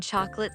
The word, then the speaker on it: chocolate: Wait, is the O in chocolate silent, too? Yes, most people say chocolate with two syllables.